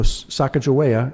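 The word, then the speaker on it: Sacagawea: So, but you know, Sakajea as the old pron they pronounce as Chicagoa now. I don't know why, but that's what they do.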